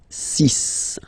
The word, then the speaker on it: six: So you get the cis pronunciation sis. C sis. Okay. So it's not six, it's sis. All right. Then here remember b is not pronounced.